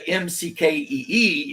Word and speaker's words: Maciodh: Instead of Mckee, it was Maciodh, but pronounced McKee.